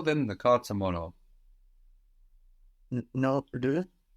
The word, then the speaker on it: leur: Non, le. It's EU, no, like in je peux, with an R on the end, which we hear, le.